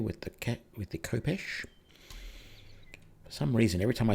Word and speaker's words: khopesh: word and then realize that it's no it's pronounced khopesh okay brilliant I'll move you there but you're